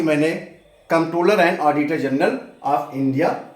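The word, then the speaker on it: Comptroller: देखिए हम लिखते हैं कंट्रोलर general कंट्रोलर and auditor general of India है लेकिन जो कंट्रोलर है उसमें पी साइलेंट है उसको आप कंट्रोलर and auditor general of India ही पढ़ेंगे तो इसके इर्द-गिर्द ही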